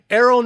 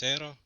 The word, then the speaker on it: Eero: My first name is Eero, and my last name actually is. I don't think we missed it by that much.